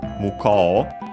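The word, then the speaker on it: 向こう: The accent is on the ko, muko, but of course, because OU, so long O, and so actually on the ko, because it's on the syllable.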